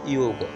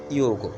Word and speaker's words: যোগ: এখন ইয়র সাথে যদি ঔকার যুক্ত হয় তাহলে ইয়োগ। ঠিক আছে, তাহলে আমরা কি বলবো? যোগকে বলবো আমরা ইয়োগ।